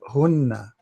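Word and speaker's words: هنّ: we say we add hunna. Let us see, hunna, how to say it in English will be like this. Hunna, make it long, hunna.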